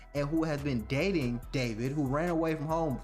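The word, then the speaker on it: D4vd: singer David Anthony Burke, better known by his stage name David, but spelled with a 4.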